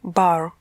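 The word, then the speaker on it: barre: И в этом примере мы столкнулись еще с одним французским словом – bar. Оно пишется B-A-R-R-E. По-французски звучит bar, le bar, балетный станок.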